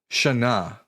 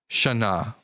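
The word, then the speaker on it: שנה: So, the Hebrew word for year is the word Shana. That's spelled Shin Nun Hey. Here's it written out. Shana.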